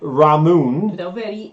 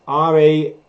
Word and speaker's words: Ramune: reason we've called it ramoon is because we've looked at r-a-m-u-n-e and pronounced it in a european way and said ramoon but i've been doing